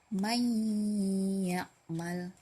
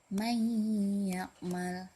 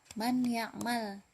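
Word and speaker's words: من يعمل: May ya'mal. May ya'mal. Nah, jadi nun sukun bertemu dengan huruf ya. Bacanya bukan man ya'mal, jadi may ya'mal.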